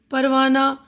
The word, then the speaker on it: پروانہ: ہائے مختفی، ذیل کے لفظوں کو پڑھتے ہوئے ان کے تلفظ پر دھیان دیجیے. پروانہ، پردہ، مدرسہ، درجہ، ہفتہ، تو سب میں آ کی آواز آ رہی ہے نا.